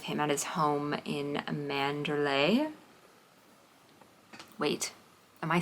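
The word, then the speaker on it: Manderley: There's an English pronunciation or American English pronunciation that says Manderly. I don't know. I feel like Manderlay.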